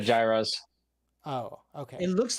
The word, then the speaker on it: gyros: foreign words foreign so yes what's the alterate pronunciation what do you like he said Gyros oh okay it looks like gyro but okay